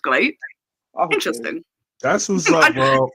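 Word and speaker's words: Gleat: Apparently, it's not pronounced Glee. It's pronounced Glate.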